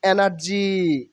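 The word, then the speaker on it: energy: meditation মানে ধ্যান নট এনার্জি এনার্জি এনার্জি নট এনার্জি R will be skip hair R will be silent hair এনার্জি এনার্জি এনার্জি এনার্জি মানে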